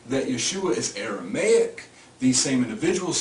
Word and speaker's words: Yeshua: Well, what you find is him called Yeshua, which I told you earlier could be pronounced Yahshua because this was originally wrote without vowel points.